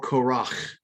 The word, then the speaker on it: Korach: of korah assam or korach is his name is properly pronounced in hebrew hear this all you